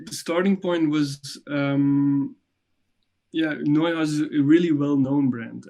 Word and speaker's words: Neuhaus: and she mentioned specifically the work done for Neuhaus. Do I pronounce it right?